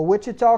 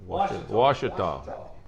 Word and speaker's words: Ouachita: I ain't said it right all year. A Wichita Christian Washita.